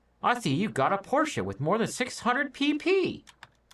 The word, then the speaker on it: Porsche: the one or two, but this one's two, even though it looks like one.